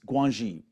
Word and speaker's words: Guanxi: And I always get the pronunciation wrong in China. It's Guanxi, where we're going to do things for each